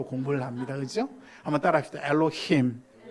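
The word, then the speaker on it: Elohim: 엘로힘. 힘 할 때 약간 목이 약간 떨려요. 엘로힘.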